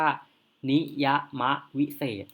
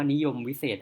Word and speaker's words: นิยมวิเศษณ์: จง หรือ เรียก ว่า นิยะมะ วิเศษ อัน นี้ ไม่ ได้ อ่าน ว่า นิยมวิเศษณ์ ครับ ๆ วัน นี้ ยา มะ วิเศษ อ่าน เรียง พยางค์ นิยะมะ วิเศษ นะ ครับ ไม่ ได้ อ่าน